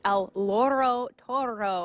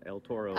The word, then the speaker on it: El Toro Loco: So now we're talking with Chuck Wagner with El Loro Toro. I want to say it right because we don't want to confuse those names. You still said it wrong. El Toro Loco.